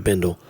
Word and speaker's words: bindle: many tears in your bindle you know what I'm saying it's it rhymes with spindle and dwindle dwindle throw you out of window or some guy named Wendell it'll be fine that